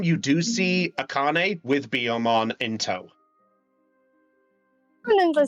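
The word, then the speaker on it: Biyomon: Yeah, no, it's a Biomon, not Bergermon.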